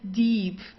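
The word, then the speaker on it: tief: Deep so you don't say dip or dip deep it's deep yeah okay de deep kind of like the word deep in uh in English yeah de deep uh also the B it's not pronounced very strong so it's not de or so it's deep sounds more like a p at the end okay the Deep Thea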